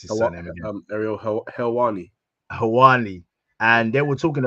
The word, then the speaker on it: Helwani: How do you pronounce his surname again? Ariel Helwani.